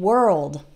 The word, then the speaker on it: world: and world is they are spelled with an O but it doesn't really sound like an O that o R has an O sound same as in the word bird or heard that's the past tense